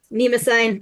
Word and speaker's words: Mnemosyne: And so this is ancient the waters of I'm not gonna be able to pronounce Nima that. sign. Mnemosyne, thank you.